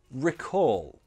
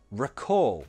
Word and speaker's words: recall: A formal verb that you can use would be recall. Pronunciation? Recall. That's a schwa. Recall. The stress is on the second syllable.